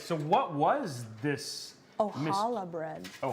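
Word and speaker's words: challah: what was this oh holla bread oh hollow so you don't even pronounce the sea oh holla okay so what is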